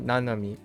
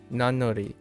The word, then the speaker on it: nanori: Oh, Nanori. Nanori. Sorry. N or no. Does that make sense? No, it doesn't. Nanori. Oh, Nanori. Yeah, Nanori. Not Nanomi. Nanori.